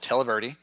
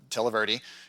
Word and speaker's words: Televerde: I have an episode coming up with an organization called Televerde. I always call them Televerde, but Televerde is how they pronounce it.